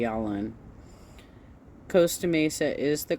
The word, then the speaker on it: Costa Mesa: Costa Mesa is the correct way to pronounce it.